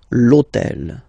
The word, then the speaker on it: l'hôtel: And third example, so I took on purpose this hôtel, okay, because it starts with H, but remember that in French we don't pronounce H, okay, so basically the